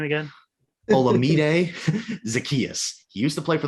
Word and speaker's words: Olamide Zaccheaus: Olamide Zaccheaus.